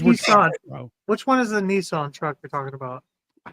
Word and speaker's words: Nissan: Nissan. That's actually the way it's pronounced.